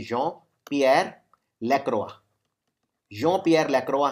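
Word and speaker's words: Jean-Pierre Lacroix: ये याद रखिए, जॉन, वैसे जीन लेकिन प्रोनाउंस करते हैं फ्रेंच में, जॉन पियर लैक्रोआ।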